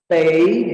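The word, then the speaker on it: 得: Kalau dia dibaca te, artinya punya kepunyaan tapi untuk kata kerja. Punya kepunyaan untuk kata kerja. Kalau dibaca te. Sedangkan di sini Lao tulis dia bacanya tei ya, tei ya. Nah, itu artinya jadi lain. Nah, nanti di kalimat akan kamu jumpai. Jadi tei di sini artinya harus, harus ya, harus.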